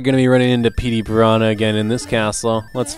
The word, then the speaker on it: Petey Piranha: I've heard some people pronounce Petey Piranha as Pete Piranha or Pete Piranha. I always took it as Petey Piranha, unless there's some dialect I'm not aware of, which in that